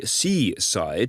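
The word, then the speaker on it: c/side: According to researchers at website security company Seaside, that is spelled lowercase c / and then SIDE, this campaign infiltrates legitimate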